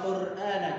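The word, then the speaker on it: القرآن: Ro-nya hanya 2 getaran, tidak lebih dan tidak kurang. Jadi ya bacanya benar wal Qur'ana, bukan dibaca panjang. Wal Ro-nya sampai bergetarnya banyak sekali, itu masih salah. Dan memang salah, tidak bisa dibenarkan.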